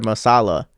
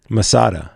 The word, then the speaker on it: Masada: Is it Masada or Masala? Masada with a D.